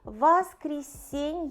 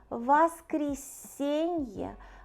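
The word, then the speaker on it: воскресенье: finally the last one is sunny which are pronounced vas creasing here vas creasing vast creasing is the longest one so let's repeat parney Zelnick Tour Nick Frieda here peten itza sobota vas creasing so it's just the names of we race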